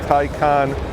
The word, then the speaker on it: Taycan: porsche's very first all-electric car the 2020 porsche tycoon yeah it's spelled tai can but pronounced tycon turbo s and in this video we're going